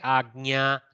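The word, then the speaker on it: आज्ञा: Ajna, like that. But you can bring a little gakara if it is too difficult. So you can say Agnya like that.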